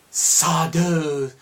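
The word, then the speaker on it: Sardo: And he goes to Sado's shop of magic. Yeah. No Mr. Accent on the O.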